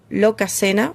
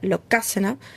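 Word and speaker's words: Lokasenna: Sí, en el capítulo anterior le dije lo loca. Lo pronuncié mal, la entonación era locasena, mis disculpas.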